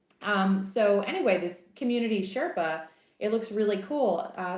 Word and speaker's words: SRPA: to be trying this fall is it's called Sherpa and it's a community for creators I don't